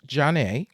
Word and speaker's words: Zhané: the 30th anniversary of John's debut album pronounced Ja and um we